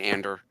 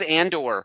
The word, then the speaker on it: Andor: Um Um Cassing Ander like as he like just says it so terribly. I was like the name of the show is Andor. Pronounce the one name correctly.